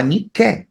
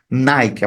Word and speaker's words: Nike: da vitória só que a gente não fala niqué a gente fala né Nike a pronuncia Nike mas é inspirado nas